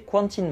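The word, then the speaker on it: Quentyn: mettre en place ces cantines martel alors ça s'écrit quentin avec un y mais je dis cantine parce qu'on dit aubry n'a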